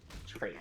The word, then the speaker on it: Treant: How do you pronounce this? Is it Tree? Or Treant? Tromp? Treant.